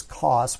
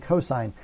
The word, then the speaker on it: cosine: wouldn't pronounce this sin you wouldn't pronounce this cost when you say them verbally you always say sine and cosine same when you put